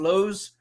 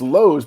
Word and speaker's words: Lowe's: lowe's are we sure it's not lows well it's lowe's because mr and mrs lowe pronounced their name low we have a language